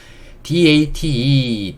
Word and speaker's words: date: DATE, D는 디귿, A는 A, T는 트, E는 묵음이니까 여기도 묵음이고요. 그래서 이거는 date, date.